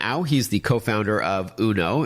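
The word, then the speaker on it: Unoo: alright so the name of the company is uno but it's spelled UN oh oh and I understand you've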